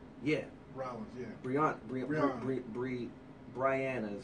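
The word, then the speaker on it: Brianna: hurdler yeah R yeah Bri Bri Bri Bri Briana is how you say it she says it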